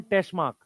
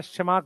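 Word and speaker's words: Tschermak: मैं ये कह रहा हूं कि डी वरीस, कार्ल कोरेंस और एक एरिक वॉन टेशमार्क, या शेमार्क बोलते हैं उसे, एरिक वॉन शेमार्क, जो कि, क्योंकि इसमें ये साइलेंट होगा टी, ठीक है, ये तीन साइंटिस्ट हैं।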